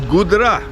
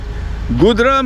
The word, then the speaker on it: Gudra: today gri and the the place's name is gudra which Buddhist world has mispronounced as kaka's mango Grove it is gdra Goodra means it is describes